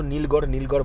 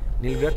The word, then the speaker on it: নীলগ্রাথ: ওখানেই রয়েছে নীলগ্রাথ, আমি তো নীলগড় বলে এসেছি, বাট ওটার উচ্চারণ হচ্ছে নীলগ্রাথ হেলিপ্যাড, বালটাল হেলিপ্যাডও এটাকে বলা হয়।